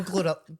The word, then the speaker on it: GloRilla: Right, so you know Glorilla.